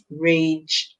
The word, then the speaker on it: rage: Remember, when G comes before E, a I, a Y, yeah, we're gonna hear the soft song. So we hear J, rage, and the E, they're silent.